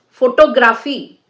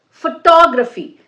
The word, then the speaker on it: photography: Now, if you say it is photograph, okay, but you can't say it is photography. It's photography. So, which syllable you have to stress?